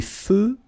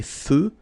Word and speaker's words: feux: Des feux de circulation. So here, final X not pronounced. Des feux de circulation.